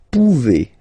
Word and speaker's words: pouvez: Then vous pouvez. Okay, classic ending as well for the vous form. A Z like that. Okay, remember you pronounce it E.